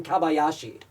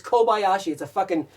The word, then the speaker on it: Kobayashi: pronounced my wife's name Kabayashi. Her name is Kobayashi.